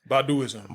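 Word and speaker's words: Baduizm: Baduism.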